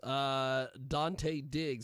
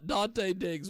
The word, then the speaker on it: Dante Diggz: Dante Diggz. That's DanteDiggz, which it sounds exactly like you'd spell it. Dante Diggz with us today.